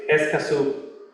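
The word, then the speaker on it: Escazú: what was the name of the club it's esaso okay it was spell that e s c a z u so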